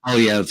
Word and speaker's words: Poilievre: Is that how you pronounce his name? The Canadian Poilievre. Pierre Poilievre, yeah.